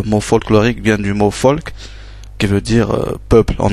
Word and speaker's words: Volk: Par exemple, le V qui se prononce F, donc V. Donc par exemple, comme on a dit, le mot folk, ça s'écrit avec un V, mais ça se prononce folk, peuple, comme Volkswagen.